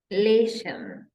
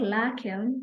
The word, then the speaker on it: Lächeln: Then we have Lächeln. Lächeln. So not lachen, but Lächeln.